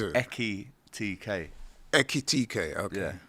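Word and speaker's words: Ekitiké: Echitik. Okay. Yeah. Right. It's quite ekit. It's quite a What was I saying? Eti. Yeah. You were saying like etiquette, but it's echit.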